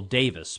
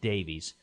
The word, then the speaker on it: Davies: His name is Michael Davis, but it's spelled Davies, but it was pronounced Davis, even though everybody during his life pronounced it Davies.